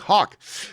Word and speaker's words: Hoke: right mahir hoke writes i hope you pronounced my last name right hawk sorry i said hulk hawk so i hope you